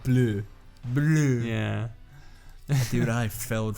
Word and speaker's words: bleu: Wait, in French it's blue. Is it really blue? It's blue. It's blue, but okay, the spelling's a little different. Is it like an I? It's like bleu.